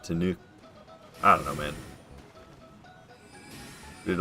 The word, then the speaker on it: Tanuki: Because it's Tom Nook like Tanuki. Tanuk. I guess maybe you say Tanuki. Tanuki? Is that right? I think it's Tanuki. Ooh. It's not... It's ooh. Tanu. Not Tanuk. I don't know, man.